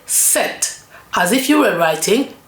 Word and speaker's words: sept: I'm not saying Sept because when you spell it you you write it with P S E P T but the P is silent. So the P of set is silent.